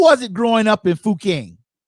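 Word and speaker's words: Fuqing: Fuking. Oh, Fuking. That's how we pronounce it.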